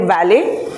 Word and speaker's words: valet: Special kudos to your pronunciation on a few words which are often mispronounced. For example, valet. It's not valid. He beautifully used the French connotation calling it valet.